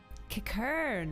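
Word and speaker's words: Qiqirn: Kikern, that's how you say it.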